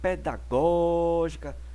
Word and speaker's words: pedagógica: A palavra pedagógica é uma proparoxítona, pois possui a antepenúltima sílaba tônica.